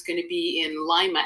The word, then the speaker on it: Lima: going to be in Lima l i m a and it's pronounced like lima bean not Lima Peru um it's going to